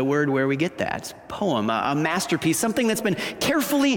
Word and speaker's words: poema: really easy to pronounce the word is poema can you say say it with me poema kind of sounds like the word poem doesn't it and it is